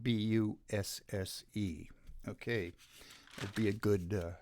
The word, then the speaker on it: Busse: After years in the firearms industry, Ryan Busse, B-U-S-S-E, I think he pronounces it Bus or Bussy, or I think.